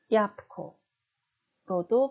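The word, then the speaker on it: jabłko: 자, 그리고 두 번째 단어 야부코 이지만 이 뒤에 크 때문에 자음 부가 무성음으로 발음돼서 빨리 발음하면 얍코로도 발음이 됩니다.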